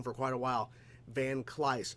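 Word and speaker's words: Van Kleiss: for quite a while van cly not van Clive van clyce showed up and for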